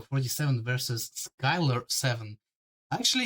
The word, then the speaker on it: Frote: Pick from Frote7. Yes, it has to be pronounced correctly, like Frote.